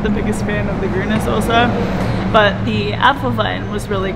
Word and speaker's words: Grüne Soße: The Grüne Soße. Grüne Soße.